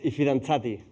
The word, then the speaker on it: I fidanzati: And I'm sorry, you'll have to actually pronounce it. It's I fidanzati.